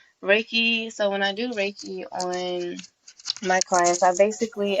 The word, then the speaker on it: Reiki: Yes, Reiki. All right. Reiki There we healing. go. Okay. So Reiki Reiki. healing and sound healing, they're both energy healing, you know. Reiki, so when I do Reiki on my clients, I basically am using my